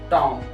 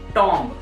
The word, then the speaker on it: tomb: इट्स हुमायूं's tomb. But what people say tomb because there is B alphabet in the last of the word, B, but here the B alphabet is silent. You have to use Tom.